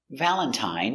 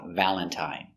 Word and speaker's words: Valentine: Valentine uses the original I sound. I, long I, Valentine.